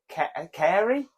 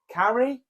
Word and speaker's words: Cary: okay the place is it's either Kerry Carrie cover career I don't know oh so you know what it is you just don't know how to pronounce it yeah c-a-r-y but I don't know fairy sounds like um see I would say Carrie is here c-a-r oh God now